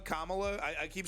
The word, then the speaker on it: Kamala: know because people the the right-wing intentionally mispronounce names you know so I don't want to be I do I just I find it hilarious I do it myself I keep calling her um camela Kamala I I keep saying